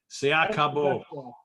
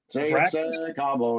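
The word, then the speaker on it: Se a Cabo: Incident at Nesabar and Secabo. I can pronounce it good. Seat Cabo. Say Cabo. Yes, there we go.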